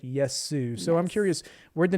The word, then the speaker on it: Yesu: you mentioned to me the name sometimes gets mispronounced yes because there's other words that look like it either it's project yes it's project Yeshua but this is Project yes Sue so I'm curious where'd